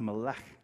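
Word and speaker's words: מֶלֶךְ: But it's pronounced melech.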